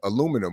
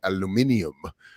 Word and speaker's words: aluminium: the world's main source of aluminum whereas i like the british say aluminium uh spikes prices spiked